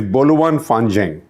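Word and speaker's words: 拨乱反正: more than Democrats so this expression is Bolan fangang my Chinese pronunciation is obviously not perfect Bolan b o l u a n fing is f a n Zed or z h e n g so Bolan f I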